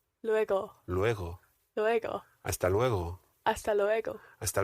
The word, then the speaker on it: luego: re-spanish pronunciation tip here the g in hasta luego is a very soft g it's not lego it's lego lueko luego luego luego lego hasta luego